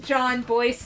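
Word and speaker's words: Jon Bois: Please nobody clip me mispronouncing John Boyce's name and send it to him being like, lol, look at this, because that is like... John Bois, John Boyce, John Boys.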